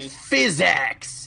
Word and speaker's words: PhysX: physics what did physics ever do to me physx it's spelled p h y s and then a